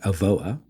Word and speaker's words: Avoa: So today we have Tim Crawford, CIO Advisor at Avoa.